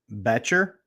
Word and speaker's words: Betcher: He said the O is silent. So is Betcher? Is that how it goes, Tristan? Tristan Betcher. Jack is telling me it's rhymes with Fletcher.